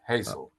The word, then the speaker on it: Hazell: what UCL stands for beautiful okay Professor Robert Hazel welcome to the show did I pronounce it correctly you did Hazel yeah okay excellent so what exactly is the